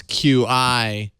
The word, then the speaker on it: Qi: pronounced cheesecake uh because Qi is pronounced Chi as with charging oh stretch but it's